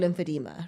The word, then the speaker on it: lymphedema: So it's a condition called lymphedema, right? So when I was 14, I was playing soccer. Let me pronounce it.